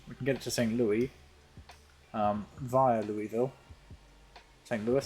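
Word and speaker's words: St. Louis: we can do that it's Louis after the French King so you pronounce it the French way okay that actually makes a lot of sense so it's Louisville and St Louis okay I always pronounced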